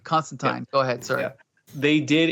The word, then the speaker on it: Constantine: Constantine and from Swamp Thing thank you for pronouncing it correctly yes you're right Constantine go ahead sir they did incorporate these characters